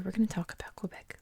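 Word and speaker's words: Québec: dialect of French so in Canadian French and I guess in regular French this is Quebec like with the k k back in America we say Quebec and this city here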